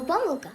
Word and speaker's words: помилка: випадок випадок вірші загадку а слово помилка має два наголоси помилка і помилка можна казати і так і так і так